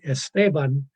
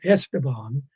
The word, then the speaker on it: Esteban: I don't understand exactly why most people who see Esteban written pronounce it Esteban. I don't understand that because the stress is on the same syllable as in English, Stephen, Esteban.